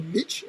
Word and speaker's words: niche: The bigger the audience, you can then specialize in some sort of niche, because the niche, or niche as you Americans say, the niche is much bigger.